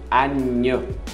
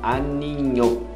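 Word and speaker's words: agneau: Cordeiro, aninho, é como aninho, ah, ele aninhou na cama, aninho, então cordeiro, aninho.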